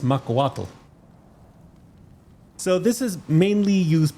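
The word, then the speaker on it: macuahuitl: Makuato. No, it's uh pronounced Makawatal.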